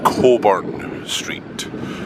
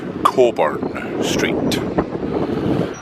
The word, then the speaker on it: Cockburn: Remember, and I say this in all seriousness, it's pronounced Cockburn Street. Cockburn Street.